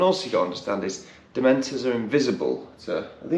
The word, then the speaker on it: dementor: why does that because dementor is not a hard word to hear no just say it properly right it's not dementored he's throwing in these